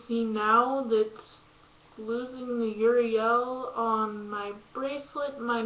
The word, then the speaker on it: Uriel: Gabriel Michael Raphael and Uriel or however you pronounce her his name there's like a few different ways but I pronounce it yurio but as you can